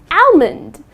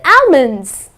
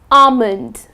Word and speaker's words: almond: to pronounce it as almond I would like to eat five almonds that's incorrect the correct pronunciation is almond okay almond ok so the L is silent another word that I